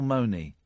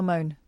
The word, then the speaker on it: Mone: never know how to say her name, Michelle Money. Michelle Moan.